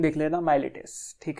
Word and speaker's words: Miletus: 3 philosophers एकजुट आए, ठीक है, 3 फिलोसफर्स आए, जो कि एक जगह थी, MILETUS, स्पेलिंग देख लेना, माइलेटस, ठीक है।